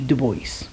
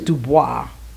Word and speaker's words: Du Bois: the work of W.E.B Du Bois um I think it's Dubois but for some reason Americans say Du Bois anyway we've read this